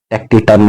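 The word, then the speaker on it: taciturn: Reticent या रेटिटर, टेक्टिटर, टेक्टिटर्न इसको कर लीजिएगा, टेक्टिटर्न इसको प्रोनाउंसिएशन करेंगे, अलूफ, रेटिसेंट।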